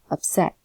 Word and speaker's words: upset: same thing with this upset okay except the pronunciation is stressed in the second syllable if you see if you look at the line here that is a stressed syllable upset about okay family so